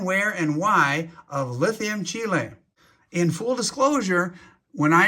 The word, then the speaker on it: Chile: about called lithium chile not to be confused with lithium chili as i've heard it pronounced i'm talking about the country chile as in south america the remainder of this